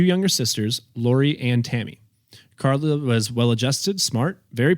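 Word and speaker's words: Karel: in 197 to to Carl Hoka spell very strange it's k a r e l for Carl um okay Carol it's it's spelled like Carol but it's Carl okay yeah um he's an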